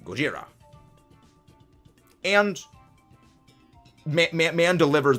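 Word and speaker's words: ゴジラ: said in the movie it uses the Japanese pronunciation Gojira and ma man man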